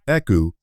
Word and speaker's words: Eku: Take Eku Leota, for example. And yes, it's pronounced Eku, not EK.